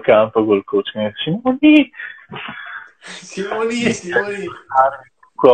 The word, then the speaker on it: Simone: In più io ero Simoni perché la E si pronuncia I, quindi era anche difficile da capire quando si riferivano a me.